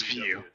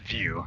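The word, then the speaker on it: Viau: okay so it is view okay so it's dot view so that's how you pronounce this last name spelled v-i-a-u but it's pronounced view it's like a nice view there you go so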